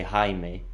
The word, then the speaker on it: Jaime: I keep saying Jamie, but then they say Jaime.